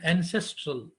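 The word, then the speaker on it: NCSTRL: So one of the examples of a virtual library is that Networked Computer Science Technical Reports Library, so which is pronounced as ancestral.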